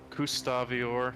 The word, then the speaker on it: Gustavior: Gustavior. You can think of it being similar to Gustav.